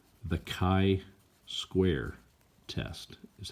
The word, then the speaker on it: chi-square: says x squared - test that's called the chi-square test is how you say that so the